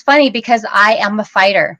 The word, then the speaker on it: Feicht: to start by sharing how you pronounce my last name so people always ask me because it's spelled funny and it's fight like Fight Club Fight Club and um